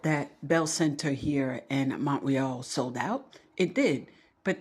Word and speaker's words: Montreal: was a sellout crowd in Montreal, which is how we pronounce it for those of us here in Quebec. Okay, you say Montreal, it's Montreal.